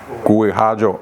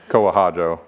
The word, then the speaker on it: Kuihajo: It's Kuihajo. Oh, I like a better way to say it. But people say Kohajo, but Kui.